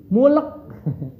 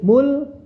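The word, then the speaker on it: مُلْك: Jadi sifat hamsnya loh yang terakhir itu sifat hams di kafnya bukan mu. Sering dibaca mulk. Enggak gitu. Tapi mulk ya. Idzimu rabbialladzi yuhyi wa yumitu q ana uhyi wa umit ya. Oke, coba ya coba kita baca alam taro dari awal. Hati-hati mulknya kasih hamsnya bukan mulk ya ingat bukan mulk.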